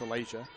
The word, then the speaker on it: Alasia: It's Alasia, actually. It's Alasia. Rose-Hulman provides a pronunciation key, and that one's turned over.